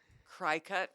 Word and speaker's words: Cricut: Cry cut. Is that how she says it? Cry cut. Yes, that's how she says it. That's how it looks phonetically.